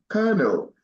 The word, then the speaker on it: colonel: here we go Kel not like Colonel it's pronounced colel it's a rank in the military right Kel kernel and next she got it right and it